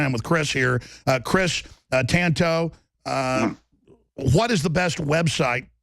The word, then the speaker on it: Tanto: The reason I made it Tonto, a T-A-N-T-O, because I'm Mexican, Spanish. If it's T-O-N-T-O, Tonto, that means fool. So say it Tanto, no big deal.